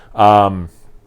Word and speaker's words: Sonomica: Sonomica, I'm assuming is how you pronounce this, like Sonoma, yeah.